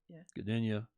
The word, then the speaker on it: Gdynia: their European Championship in Dania Poland Dania into the G is silent I think didn't you